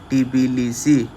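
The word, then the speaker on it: Tbilisi: ये होता है आपका बिलीसी, टी साइलेंट होता है, टिबिलिसी, टिबिलिसी ये होता है आपका कैपिटल।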